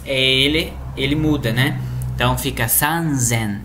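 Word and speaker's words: 三千: 3000, aqui nesse caso, a pronúncia é sanzen.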